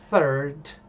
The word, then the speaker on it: third: Então, eu ten que tomar muito cuidado na hora de pronunciar isso aqui. Third. Por quê? Porque senão eu posso acabar pronunciando outra coisa. Seria o third. E third não é uma palavra muito legal, ok? Então, cuidado com essa com essa pronúncia aqui.